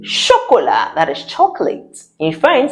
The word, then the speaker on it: chocolat: D chocolate that is chocolate in French. C8 sounds sh. And I said we don't pronounce the last sound.